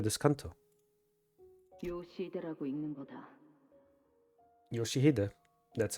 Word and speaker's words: Yoshihide: of our sinners, can also be read as Yoshihilde, which is what the little girl confused here. So, that's why I said I'm going to be absolutely devastated by this Canto. 요시대라고 읽는 거다. Yoshihide.